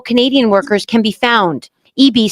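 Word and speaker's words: Eby: Ano British Columbia Premier David EB EB pala ang pag-pronounce non. Akala ko dati EB.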